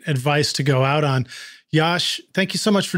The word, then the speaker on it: Jaszcz: is so unusual and it's spelled j a s zcz that's pronounced Yash you can just go